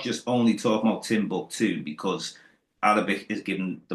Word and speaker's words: Timbuktu: No, the name Timbuktu Yeah, is Timbuktu, and it means proper pronunciation.